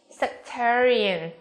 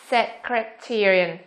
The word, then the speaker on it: sectarian: B, sectarian.